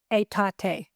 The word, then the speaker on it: Aetate: Aetate.